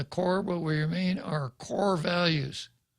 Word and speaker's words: Corps: Many of us have been separated from the Corps, but we remain our core values, CORPS, CORE. Many of us have been separated from the Corps. Barack Obama would pronounce this corpse.